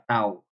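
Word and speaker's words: τ: sini notasinya seperti ini ini dibacanya adalah tau jadi nilai kebenaran dari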